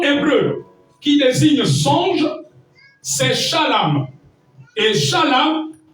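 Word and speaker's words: חלם: Le deuxième mot hébreu qui désigne songe, c'est shalom. Et shalom s'écrit C-H-A-L-A-M.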